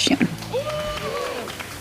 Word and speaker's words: Jihoon: Yeah, that's how you say it, Jihoon.